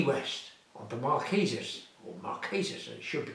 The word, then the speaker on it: Marquesas: I remember it, Key West on the Marquesas, or Marquesas as it should be pronounced.